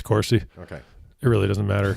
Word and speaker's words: Corsi: i am i pronouncing it wrong like I pronounce everybody's names wrong on this show it's Corsi okay it really doesn't matter cuz he's going